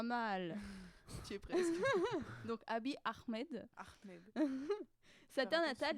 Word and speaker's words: Abiy Ahmed: Et avec la bonne prononciation? Abiy Ahmed. Pas mal. Tu es presque. Donc Abiy Ahmed.